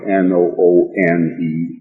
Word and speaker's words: Noone: Noone was also mentioned in these writings, and for the benefit of the listening audience and reading public again, Noone is definitely spelled N-O-O-N-E and pronounced Noone.